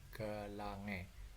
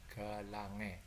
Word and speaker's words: galangae: Contoh galangae, diucapkan galange, jadi AE nya dibaca E. Paham ya? Jadi galangae dibacanya galange karena A-nya dibaca E, jadi dibaca galange.